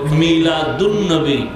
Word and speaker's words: মিলাদুন নবী: যখন সন্ধি করে উচ্চারণ করা হবে তখন হবে মিলাদুন নবী। আলিফ লাম লেখায় আসবে, পড়ায় আসবে না।